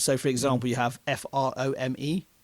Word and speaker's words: Frome: f r o m e. It's a place name that's spelled that Frome. And it's pronounced Frome rather than Froome, isn't it?